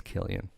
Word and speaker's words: Cillian: remember his name yeah somebody pronounced a Killian the other day but it's a see it's not a K its Killian you don't say it's like the Irish red Killians with a k' yeah but somebody said